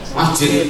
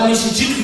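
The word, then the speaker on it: مسجد: Masjid. Pernahkah Anda baca misjid gitu? Oh tidak pernah. Selamanya dibaca masjid.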